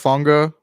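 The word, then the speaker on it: Hufanga: you had earlier in the year too right honga is how he say his name huanga Lenor like I said Mooney charvarius W hasn't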